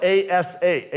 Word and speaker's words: Asa: But it's spelled A-S-A, Asa.